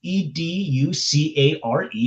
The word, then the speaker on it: educare: So, educate e d u c a r e because it's Latin the e at the end has an a like the Italian language. So, instead of pronouncing it educate, it's educare.